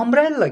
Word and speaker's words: umbrella: okunuşuna dikkat ediyoruz bu umbrella kelimesi ne bakıyoruz Bu da yine u ile başladı ama ah sesiyle okunuyor o zaman ünlü bir